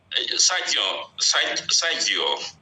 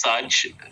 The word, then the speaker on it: Serge: Sergio, kindly unmute and unmute. I think and ask your question. Yes, Sergio. Yes, thank you so much. My name is pronounced Serge. It's a French name.